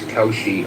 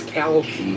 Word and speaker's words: Kalshi: Don't feel bad about thinking that Kalshi was Kaushi. I thought so too. I thought it was That's what I thought, bro. But it's Am I the only one? It's Kalshi, KALSHI, but people pronounce it Kaushi.